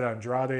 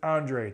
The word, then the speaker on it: Andrade: fight for Andre and I realize I just said Andrade a second ago sorry that's just how the name looks to me but they always pronounce it Andre it's Demetrius Andre this